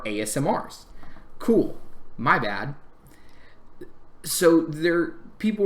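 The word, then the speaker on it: Aasimar: I always called them Asmir until I started hearing how other people actually pronounce their names, and I felt really dumb because they are not ass smears. They are ASMRs.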